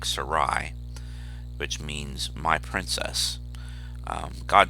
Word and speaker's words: Sarai: given at birth is is probably pronounced something like sarai which means my princess